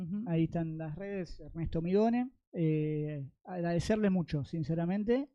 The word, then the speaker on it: Mignone: Bueno, ahí teníamos a Ernesto Migone. ¿Cómo se pronuncia? Migone. Es una eterna lucha. No sos el único que acá tampoco. No, Migone, periodista del portal Tigre de Papel, analista, egresado de TEA.